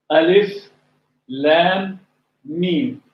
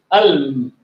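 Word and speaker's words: الم: Al-Baqarah, and this surah, it starts with 3 letters together are pronounced like we say one letter at a time. Alif, Lam, Mim. We could read this word Alm, but it doesn't mean anything. Although Alif, Lam, Mim, separated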